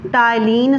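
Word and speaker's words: ptyalin: टाइलिन स्रावित होता है। क्या स्रावित होता है? इसी के द्वारा टाइलिन स्रावित होता है। और पी क्या है? साइलेंट है।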